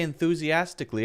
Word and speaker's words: enthusiastically: second when I say enthusiastically I'm actually saying enthusia enthusi enthusiastically oh I'm saying Kali but actually that's not the correct pronunciation it's Klee not Kali you have to be